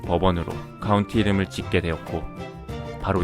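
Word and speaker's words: Bourbon: 부르봉 왕가에 대한 보답으로 부르봉 의 미국식 발음 인 법원으로 카운티 이름을 짓게 되었고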